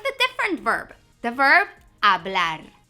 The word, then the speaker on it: hablar: The verb hablar. Hablar. By the way, that H is silent.